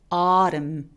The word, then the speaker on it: autumn: 단어 끝에 M과 N이 함께 있을 때 이럴 때 그냥 N 발음을 무시하고 M 소리만 냅니다. 그래서 가을은 어떻게 발음해요? autumn 이렇게요.